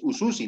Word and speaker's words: ususi: USUSI, no hay este fonema JA. No hay influencia de JA. Por lo tanto, la pronunciación es USUSI nada más.